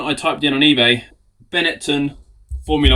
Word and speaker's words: Benetton: Beneton, that's how you pronounce it.